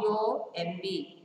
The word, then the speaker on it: bomb: R, H-O-U-R, knee, K-N-E-E, no, K-N-O-W, comb, C-O-M-B, bomb, B-O-M-B.